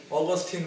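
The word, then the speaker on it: Augustine: 라틴어로 부르면 아우구스티누스고요. 영어식으로 발음하면 어거스틴이라는 사람입니다. 어거스틴. 많이 들어보셨죠? 어거스틴, 아우구스티누스.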